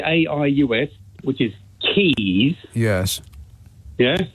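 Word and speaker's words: Caius: if like you know you wouldn't pronounce them the way they're spelled so the two examples are um C AIU which is Keys yes yeah Keys College Cambridge and the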